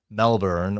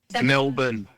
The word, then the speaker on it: Melbourne: And there were a lot in this episode of different pronunciations, but the big one, Melbourne or Melbourne or Melbourne, depending on who you asked.